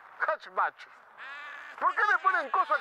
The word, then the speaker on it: hatchback: Es un coupé tres puertas con bach, con bach, con hatch. No lo estornudeo, Osvaldo. Se dice de la parte de atrás, se dice hatch, hatchback.